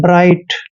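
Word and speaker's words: bright: मैंने आपको बताया था टी से पहले जब भी जी एच आता है तो वहां पर जी एच हमेशा साइलेंट रहते हैं इसलिए बी को हमने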